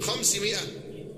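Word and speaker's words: خمسمائة: وعن ابن مسعود رضي الله عنه قال: بين السماء الدنيا والتي تليها 500 عام، بكسر الميم وحذف الألف التي بعد الميم، 500 هكذا تنطق والعلم عند الله.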